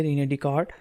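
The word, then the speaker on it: René Descartes: फ्रेंच philosopher और mathematician रिने डीकार्ट आया इसके नेम में साइलेंट है इसको रीड करेंगे रिने डि काड उसने अलजेब्रिक मेथड जो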